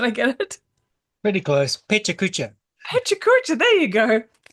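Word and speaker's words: PechaKucha: Because in Australia you go pecha kucha, but it's pachakacha, isn't it? Is that right? Did I get it? Pretty close. Pecha kucha.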